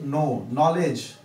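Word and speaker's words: know: जैसे नो, नॉलेज भी के से पहले आया है तो वहां भी क्या है, वो साइलेंट है।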